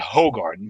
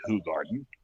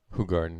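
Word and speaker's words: Hoegaarden: what what people knew is um As Americans pronounce it hoog Garden but it's actually pronounced H Garden H Garden yeah yes and we didn't really know it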